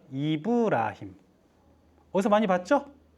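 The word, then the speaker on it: إبراهيم: 아브라함은 뭐라고 읽어요? 이브라힘.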